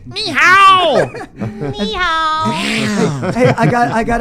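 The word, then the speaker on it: 你好: Well, you're saying it wrong. It's ni hao.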